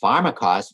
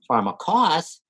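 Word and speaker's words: φαρμακός: Now, the Greek noun pharmakos has nuances of meaning depending on whether the accent's on the first or the last syllable. When the accent's on the first syllable, pharmakos means poisoner, sorceress, magician.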